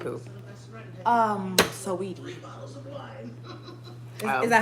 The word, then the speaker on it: Saweetie: Saweetie. Oh. Is that how you say it? Am I saying it right? Sweetie. You said it right. Okay. Because that's how it's spelled.